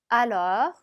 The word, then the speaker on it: alors: Alors, alors. 자, 얘도 마찬가지로 오긴 하지만 발음은 어처럼 내셔야죠.